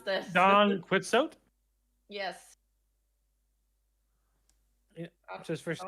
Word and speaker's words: Don Quixote: I mean, I keep hearing donkey shot out of your mouth, so I don't know. Chat, help me. I don't know how to pronounce this. Don Quixote?